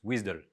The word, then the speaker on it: WSDL: la description du websice le WSDL qu'on prononce wizdle alors c'est ce lien